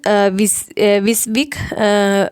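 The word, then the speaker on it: WYSIWYG: It is pronounced Visvik, and basically means that the printer will print what you see on your monitor.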